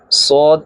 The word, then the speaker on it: صاد: کے اندرونی کنارے سے صاد ادا ہوگا۔ اب صاد کی سپیلنگ اس طرح، صاد زبر الف مد دال، دال حروف کلکلہ ہے، کلکلہ ہوگا اور مد ہے، مد کو کھینچیں گے، صاد۔ اسی طرح لفظ کو